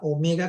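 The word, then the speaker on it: ωμέγα: Para los griegos es la omega, que suena como una O alargada, o algo así, ¿no?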